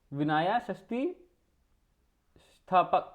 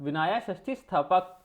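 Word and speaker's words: विनयस्थितिस्थापक: ये हो गया विनाया इसको कैसे बोलेंगे आप, एक इसकी प्रोनाउंसिएशन थोड़ी सी हार्ड है, तो इसको इससे बोलेंगे विनाया षष्ठी स्थापक। अच्छा, विनाया षष्ठी स्थापक, तो ये कौन थे, chief officer of religious officers, ठीक है ना।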